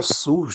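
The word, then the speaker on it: סוס: A palavra cavalo em abrit é sus, que se pronuncia sus.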